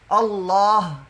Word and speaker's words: اللہ: کسی کو کہتے ہیں اللہ، کیا حال ہے، اللہ کا کرم، تو اللہ لفظ اللہ کے آخر پہ ہا ہے، اس کو بھی پورا پڑھنا چاہیے، ایسے نہیں اللہ کا